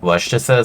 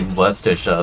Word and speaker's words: Worcestershire: right when you say Worcestershire sauce correctly. I'm just like, dude. Dude, it ain't my fault that you don't even pronounce the Shire part in your fucking, town name.